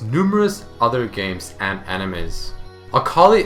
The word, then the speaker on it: Akali: other games and animes akali is pronounced akari in Japanese meaning light bright cheerful